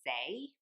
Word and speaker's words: Saie: And the last makeup product that I got is, I have no idea how you pronounce this brand, but I think it's pronounced Saie, S-A-I-E, and this is the Dew Blush Liquid Cheek Flush.